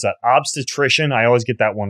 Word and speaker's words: obstetrician: And you're also, you're a board certified how do you pronounce that? Obstetrician.